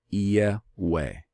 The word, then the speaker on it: Yahweh: the name of Allium I I pronounce it yeah way yeah ooh yay way